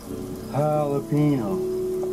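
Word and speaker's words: jalapeño: It's a J's like an H, Ricky. Jalapeno.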